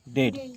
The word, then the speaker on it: dead: डेड। क्या लिखा? डेड। तो EA का उच्चारण क्या हुआ?